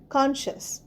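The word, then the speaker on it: conscious: সি ও এন এস সি আই ও ইউ এস কনশাস এখানে দেখো সিটাও উচ্চারণ হবে না কনশাস কনশাস মানে কি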